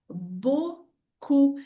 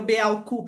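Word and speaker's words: beaucoup: Então aqui a pronúncia da palavra muito é bucu e não be cup, né? Imagina que pronúncia horrível. Beau cup. Me ajuda aí, né? Então o e a u tem o som de o.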